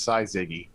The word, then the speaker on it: syzygy: else used it and it's pronounced psi ziggy ziggy yeah and it's